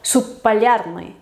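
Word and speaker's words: субполярный: Normalmente se pronuncia como un sonido más largo, como por ejemplo subpalярный, subpalярный, o sea, subpolar, pues subpalярный, como una P larga, subpalярный.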